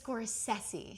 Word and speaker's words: Scorsese: Scorsese. Scorsesei. Let's see. Pronounce your last name for me. Scorsesi. Scores. Scorsesi. Scorsesi. It's Scoresi.